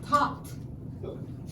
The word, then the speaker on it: talked: yes, talked. Talked. It's easy, but it sounds like a T sound at the end of talked.